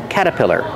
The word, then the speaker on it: caterpillar: there's an R there well usually we don't pronounce that R we say cata caterpillar and the T changes to a fast D cat caterpillar this is